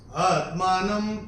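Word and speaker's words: आत्मानं: दिया दूसरे चरण में न के ऊपर अनुस्वार के बाद का अक्षर है प और अनुस्वार के बाद जब प आएगा तो अनुस्वार का उच्चारण होगा म तो ये हम अपनी किताब में म नोट करके रख सकते हैं आत्मानम परमेश्वर ये ऐसे करके आए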